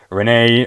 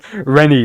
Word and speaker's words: Renie: Renee or Renie, sorry, Renie, like Remy from Ratatouille, bro.